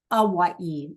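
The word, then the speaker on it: Hawái: A Hawaii. The H is silent.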